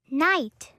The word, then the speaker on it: night: Night, night.